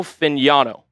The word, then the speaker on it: Fagnano: Joe Fagnano out of UConn. Definitely not how it looks um as you see on screen, but fluid throwing motion, doesn't turn the ball over.